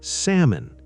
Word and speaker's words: salmon: And salmon becomes salmon. The L is silent.